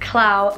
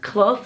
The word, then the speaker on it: Clough: Our last name is actually pronounced Clough, so like C-L-U-F-F, Clough like fluff but with a cluh at the beginning, not cloud.